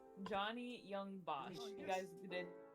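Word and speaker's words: Johnny Yong Bosch: Johnny Young Bosch.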